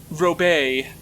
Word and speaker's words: Robert: same yeah it was still spelled it's still pronounced it's just like yeah I I'm uh I'm Robert and I'm like no you're not Robert you you're actually Robert robay uh but just it's just like you see